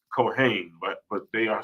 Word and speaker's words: Cohen: a lot of the small hats are named Cohen right even though it's pronounced cohain but but they are spelled spelled just like